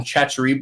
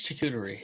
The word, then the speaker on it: charcuterie: Me and the wife call them chachari boards. How do you say it? Charcuterie? I say Charcuterie.